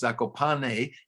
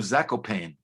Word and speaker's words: Zakopane: I mean, I know I violated something by putting the accent over the E, but I was aiming at English language audiences who would then pronounce Zakopane instead of Zakopane.